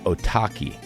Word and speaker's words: Otaki: obsessing with the name otaki since sportiva released the Slick blue shoe a couple years ago rhymes with suvlaki in Japanese it apparently